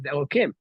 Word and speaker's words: Elohim: But first of all, we don't know what the word Elohim usually in the Torah means God. And then it would be pronounced as Elokim.